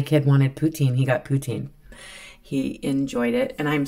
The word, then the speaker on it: poutine: wanted poutin he got poutin he enjoyed it and I'm sorry but some people are going to correct me it is actually pronounced Putin um because it is I believe French um so yeah I'm